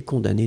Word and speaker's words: condamné: Condamné doit être, eh bien, ici au masculin, puisque c'est connecté à père.